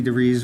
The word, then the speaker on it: DeVries: And I specifically went in, Vicky DeVries, rhymes with cheese, was there with me.